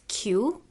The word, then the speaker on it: Khiew: pronounce your last name my last name is pronounced as Q it's spelled as k-h-i-e-w and it's pronounced the same as the letter q okay so Q